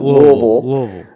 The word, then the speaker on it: Louisville: Louisville. I don't know how you pronounce it where you're from. The locals pronounce it Louisville.